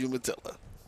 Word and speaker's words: Umatilla: he's from that place I couldn't pronounce Umatilla Umatilla I think you you Malta Florida but you know Umatilla I guess we'll go with that version of pronunciations but he's from Umatilla Florida that's Trey trust me it is Umatilla two outs here called